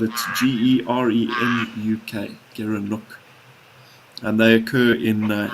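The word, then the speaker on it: gerenuk: is certainly worth a Google and you can spell it g-e-r-e-n-u-k Garen look and they occur in uh in places like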